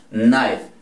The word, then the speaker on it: knife: Clase pasada, e al final no suena. Tiene dos sílabas, knife. Entonces esta no suena como suena la i en inglés. La i en inglés suena i, entonces por eso decimos knife. Y la k está simplemente de adorno, que tampoco tiene incidencia sobre la pronunciación, lo mismo que si vamos a decir saber.